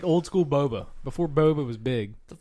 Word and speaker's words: boba: Boba's huge in the Asian Bofa, community. bofa, Not bofa, boba tea.